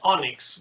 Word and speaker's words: ONNX: you name it um you say that i pronunciate that as onix but it's all nnx